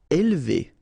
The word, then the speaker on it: élever: Élever. Alright, so don't pronounce this here.